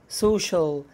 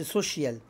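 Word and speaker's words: social: اللي هي اجتماعي ها سوشال سوشيال طبعا ما بنقولش سوشيال سوشيال بعد كده رسمي اوفيشيال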